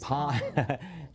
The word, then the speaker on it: palm: That's the correct pronunciation of palm. Is palm. Not from New York.